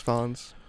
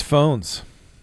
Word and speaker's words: Fownes: Fawns. It's Phones. That one. It's Phones.